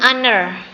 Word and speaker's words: honor: the Award Delta an honor ya Ini karena kita bacanya Hnya enggak dibaca ya an hon gitu ya Kalau diartikan